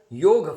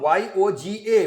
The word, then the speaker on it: yoga: and all that so we learnt more about yoga from yogic yog from y o g a from the west so and then the pronunciation became yoga y-o-g-a yoga and now it is